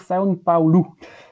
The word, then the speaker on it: São Paulo: il paraît qu'il faut dire São Paulo.